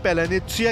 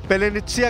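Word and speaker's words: паляниця: भी कहा जाता है पलेसिया ऐसा शब्द है जिसका सही उच्चारण रूस के लोग अमूमन नहीं कर पाते जब यूक्रेन य शुरू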